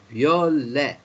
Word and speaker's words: violet: Because you know in French often you don't pronounce the last letter, especially if it's an S or a T, and also sometimes the letter R isn't pronounced at the end.